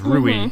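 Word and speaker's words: ルーイ: And then Louie is like Luigi, because he's Rui. He's Rui in Japan.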